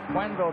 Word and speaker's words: Quenneville: You may notice we pronounce his name Quenneville. He told us a couple of weeks ago that's the way he preferred it. We've been calling him Kenville most of the season.